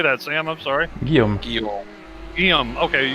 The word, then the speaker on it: Guillaume: William Jobert. Guillaume? How do you say that, Sam? I'm sorry. Guillaume. Okay, Guillaume Jobard.